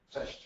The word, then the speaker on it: Cześć: Cześć. Cześć. Cześć. Cześć. There you go, Chish.